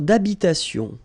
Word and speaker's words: d'habitation: Une tour d'habitation. Remember, H doesn't exist in French, well, in most of the cases. So it does mean that you don't pronounce it.